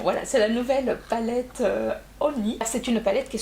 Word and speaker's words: Honey: Ça se prononce Honey et pas Honey comme j'avais dit. C'est Honey, il faut penser à George Clooney.